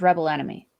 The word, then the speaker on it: Rebel X Enemy: I'm going with Rebel X Enemy because that's how it looks on paper. That's how it's spelled on paper. I'm going how it's announced by the announcer, and that's Rebel Enemy.